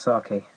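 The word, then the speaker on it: 酒: Japan is pronounced sake, and sake is like sake, but also it's the general term for alcohol as well.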